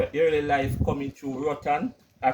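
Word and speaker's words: Roatán: Tell me your early life coming through Rotan. I pronounced that right?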